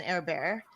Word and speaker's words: Herbert: good pick that owned Justin air bear um and that's how I pronounce his name and then going to